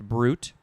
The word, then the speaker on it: bruit: but in this case it's just pronounced brute b-r-u-t although it's spelled b-r-u-i-t it is a transitive